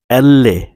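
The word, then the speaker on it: elle: ই, এল্লে, এলকে বলে এল্লে, এম্মে, এন্নে, ও, পি, কু, কিউকে বলে কু, এররে, এসে, তি, উ, ভু, জেটা।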